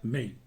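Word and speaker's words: 莓: También se pronuncia mei.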